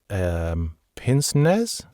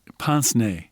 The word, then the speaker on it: pince-nez: Like pince-nez? Pince-nez. Pince-nez. Thank you for correcting my pronunciation there, which I think literally translates as pinch nose.